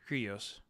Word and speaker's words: Kyrgios: How do you pronounce his name? Kyrgios.